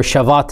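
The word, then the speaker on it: Shabbat: So the Jewish Sabbath, or Shavat as they pronounce it, it is something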